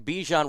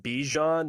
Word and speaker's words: Bijan: fandoms it's the the person rhymes with me Jean mominson okay this running back Bijan Robinson what is your